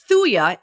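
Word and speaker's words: thuja: on the premise of like cures like so thuya is the vaccine detox for parvo and distemper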